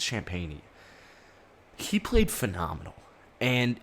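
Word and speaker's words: Champagnie: below in the comments i know it's not champagne and i don't want to call him champagne champagne i think it's champagney he played phenomenal and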